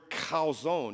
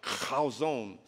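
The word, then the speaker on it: חזון: The word vision in the Hebrew is the word chazon. You have to say it like a chazon, like you have a popcorn kernel stuck in the back of your throat.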